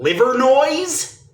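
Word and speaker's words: Livernois: that they make sense the way they're actually pronounced okay all the street signs for leier no in Detroit which the locals call liver noise uh no those are going to remain more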